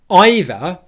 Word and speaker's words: either: on the ending but this time instead of saying a long e vowel sound we're going to say the word i which is the same